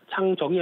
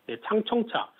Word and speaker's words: 창청차: 이제 중국이 상하이차가 자체 개발했고 거기다 이제 창청차, 발음 잘해야 될 것 같습니다. 창정이 아니고 창정은 가수죠. 창청차, 광저우차 이런 쪽이 후발주자로